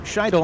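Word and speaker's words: Shytle: Trip Scheidel, and I hope I'm pronouncing his last name correctly. It's S-H-Y-T-L-E.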